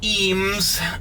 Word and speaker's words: Eames: They have a lot of Ames furniture there. Some people say Eames. I say Ames.